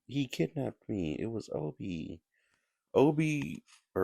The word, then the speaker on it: Obi: Obie what's a he's like Obie that's my name and when jigsaw says hello jig actually mispronounces his name on the on the on the tape and they just never fixed it yeah so apparently when